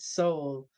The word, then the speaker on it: Seoul: Emperor said it's pronounced Seoul.